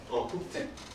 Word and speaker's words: 독택: 이거는 독대가 아니라 독택.